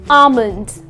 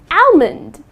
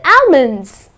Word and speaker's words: almond: to pronounce it as almond I would like to eat five almonds that's incorrect the correct pronunciation is almond okay alond okay so the L is silent